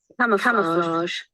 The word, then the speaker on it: camouflage: Can someone pronounce it? Camouflage. Camouflage. Camouflage.